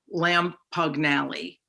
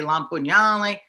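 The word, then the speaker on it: Lampugnale: is spelled differently because no one was going to say my last name as it spelled which was lam pugnelli so that's the italian way la pugnalle oh my god once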